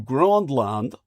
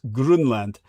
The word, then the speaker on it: Grönland: It's where they used to, for decades, they would trade with the breakaway civilization of Unterland through Grönland, as it's correctly pronounced as Grunland.